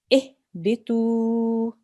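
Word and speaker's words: اهبطوا: Has a kasra on the ba. So what stroke will the alif have? Kasra. Excellent. We'll pronounce this ihbitu. Bitu. Ihbitu. Bitu. Good. Why am I pronouncing this for 2 seconds? At the end? Yeah, there's a waw with a sukoon. The letter before has a dhamma, so this is a waw mud.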